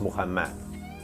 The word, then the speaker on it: Muhammad: sidarta Buddha lived until 80 years old Muhammad pronounced Muhammad he lived until 60 years old Three Holy